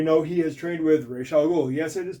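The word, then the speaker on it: Ra's al Ghul: actually created him it's Ral ghoul that is the Arabic pronunciation I don't speak Arabic but it's not Ros it's re um League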